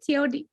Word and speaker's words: Teodosio: Say your last name. It's Portuguese. You know the tribe. Teodosio. How do you say it? Teodosio.